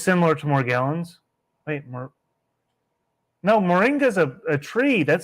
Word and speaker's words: moringa: So they found arsenic in the morgi. Oh my God. How do you say it? I bought it before and I've used Moringa?